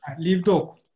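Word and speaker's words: לבדוק: Yani B'den B egat kepat oluyor. Şu B ince olarak okunuyor. Livdok.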